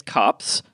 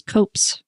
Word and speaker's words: copse: to look it up, and it's copse. I always thought it was copes. Me too, because it's got the E on the end, right?